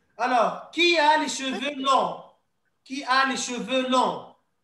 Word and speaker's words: long: Long. Donc, en français, on ne dit pas long. Hein? The letter of G. We don't pronounce the G, so we said long.